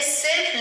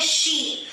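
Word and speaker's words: she: इसे हम प्रोनाउंस करते हैं शी। याद रखिएगा ये शब्द है। इसे आप सी प्रोनाउंस नहीं करेंगे। इसे आप सी नहीं बोलेंगे। ये गलत हो जाएगा।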